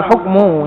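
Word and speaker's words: حُكْمُ: Wadzauqus salimu lahul hukmu. Ini bacanya hukmu bukan hakamu, kalau yang di atas jadi hakamu.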